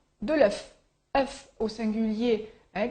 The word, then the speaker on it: œuf: la prononciation de l'œuf fuf au singulier hein quand il est écrit au singulier on prononce le F un fuf mais au